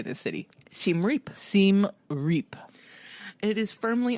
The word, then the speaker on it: Siem Reap: Siem Reap.